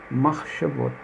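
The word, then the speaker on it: מחשבות: Aqui ele dá o som de E. Machshavot. Machshavot. Machshavot.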